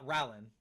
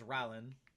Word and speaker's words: Rin: Just realized how do you say your name? Uh Rin. That's how I mean that's how I say it is Rin. That's how I've always said it.